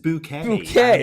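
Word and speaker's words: Bucket: Her name was like Bookit, which is like it's pronounced bouquet.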